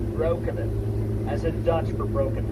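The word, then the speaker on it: Breukelen: Properly, by the way, it should be pronounced Broekenen, as in Dutch for broken land.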